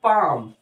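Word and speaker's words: palm: L silent हो गया ऐसे ही बोला गया पैम तो पैम में एस साइलेंट हो गया इस तरीके की कुछ प्रॉब्लम्स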